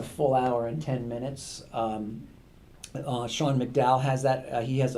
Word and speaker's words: Sean: Sean McDowell has that. He has a podcast out of Biola, but his YouTube channel, so it's spelt in the Irish way, SEAN, Sean McDowell.